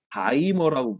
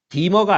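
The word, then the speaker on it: dimer: 근데 이렇게 두 개가 이렇게 연결되어 있을 때는 다이머라고 부릅니다. 다이머. 두 개가 연결되어 있을 때는 다이머. 디머가 아니야, 디머. 디머 발음, 왠지 발음이 구리지, 그치? 다이머라고 얘기해.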